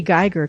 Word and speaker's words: Giger: This is the Rice Cooker, and we are here today with Bri Giger because it rhymes with tiger.